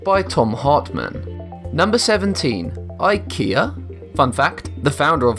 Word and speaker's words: IKEA: More interesting is how most people mispronounce IKEA like I just did. IKEA. Again, most Americans and Brits get this wrong since they pronounce a Swedish name using the limited phonetics of English.